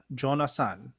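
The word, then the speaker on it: Jonah Sahn: jon assan which is the japanese pronunciation of my name says j o n a h s a h n jonah son jonathan okay tick tock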